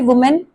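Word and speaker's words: women: similarly वुमेन एक औरत, वुमेन में भी आपको ए दिख रहा है, मैन आ रहा है यहाँ पे, तो विमन, यहाँ पे प्रोनाउंसिएशन चेंज हो जाती है विमन, और हमने ए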